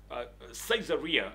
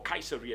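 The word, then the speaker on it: Caesarea: gentle the Bible says at cesaria or or kaisera depending on how you want to pronounce that there was a man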